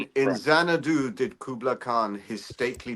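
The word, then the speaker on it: Xanadu: And um this mansion the it's now called Zanadu spelled with a X and uh uh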